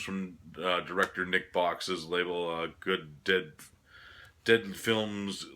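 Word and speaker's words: Good Dead Films: director Nick Box's label good dead dead films like dead good films like that's how you pronounce it it's kind of like a tongue twister name for the label his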